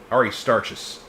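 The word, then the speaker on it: Aristarchus: Ari starches.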